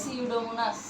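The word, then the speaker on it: Pseudomonas: ও এন এস সিউডোমোনাস এখানে যদিও পি আছে বাট পি এর উচ্চারণ হবে না উচ্চারণ হবে সিউডোমোনাস তাইলে ইউটিআই আমরা কাকে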